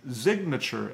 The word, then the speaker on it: Zignature: I have Fritz on a food by the brand name Zignature, and I think that's Z-I-G-N-A-T-U-R-E, Zig Nature.